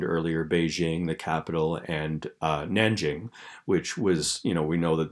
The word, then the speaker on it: Nanjing: Shanghai, I mentioned earlier, Beijing, the capital, and Nanjing, which was, we know that there's like different ways of spelling and pronouncing Chinese terms, and Nanjing is the name of the city now, but they called it Nanking back in 1937.